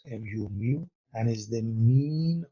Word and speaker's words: mu: in this case we use mu mu is pronounced mu mu and is the mean of all values